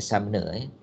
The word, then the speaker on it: Sumner: Dia bukan Summer sebenarnya, Sumner.